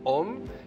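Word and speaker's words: AUM: Ahora vamos a hacer un OM, A-U-M, como en realidad se pronuncia.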